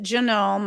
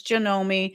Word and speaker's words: Janome: I pronounce it Janome. Apparently, it's Janomi.